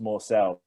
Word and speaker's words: Morsell: and he was like, "It's pronounced Morsell." That morsel.